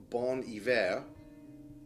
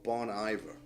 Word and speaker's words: Bon Iver: music this is uh depending on your pronunciation bon iver or bon iver which is the pseudonym for a gentleman named justin vernon who's from wisconsin but bonnie vera he used the name